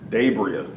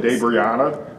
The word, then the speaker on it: DaBriah: What is the correct pronunciation of your name? DaBriah.